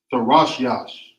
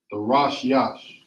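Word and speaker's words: תרשיש: Now you will write that out in Hebrew, or pronounce it rather as Tharashyash. Tharashyash.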